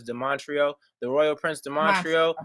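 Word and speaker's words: Demontrio: whatever my name um the montreal spell like demon trio d-e-m-o-n-t-r-i-o but it's not pronounced demon trio as de montreal the royal prince de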